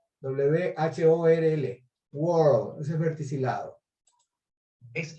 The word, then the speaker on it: whorl: Verticillate, verticillate con doble L se escribe en inglés, o también whorl, W-H-O-R-L, whorl, eso es verticilado.